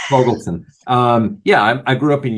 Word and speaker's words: Fogelson: I'm sorry, I can't pronounce anything today. It's Fogelson.